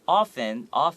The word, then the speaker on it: often: Creative, colorful, and often, don't forget this T, you don't have to pronounce it. It's a silent T.